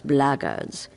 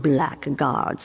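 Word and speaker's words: blackguards: another one of those blaggers and that's the way to pronounce it not black guards like that thug insisted it was then my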